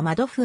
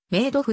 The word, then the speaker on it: Madoff: 死亡下せーの日本での表記は窓付あるいはまあ度太されるがアメリカ英語での発音に忠実なカナ表記はメイド付であるニューヨークのクイーンズで